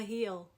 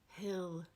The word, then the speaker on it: hill: about that small mountain you go up, a heel. Folks who don't speak southern American English might tell you it's pronounced hill 10.